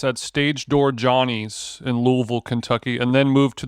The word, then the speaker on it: Louisville: Louisville. As one of my best friends said, if you say it right, it sounds like spaghetti's falling out of your mouth.